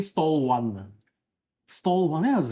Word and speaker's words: Stallone: So he pronounced Stallone and stall one.